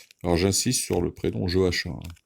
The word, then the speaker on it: Joachim: Alors j'insiste sur le prénom Joachim, hein. On prononce à la française. À la française, c'est Joachim, c'est pas Joachim. Joachim, ça c'est pour les Espagnols et les Portugais.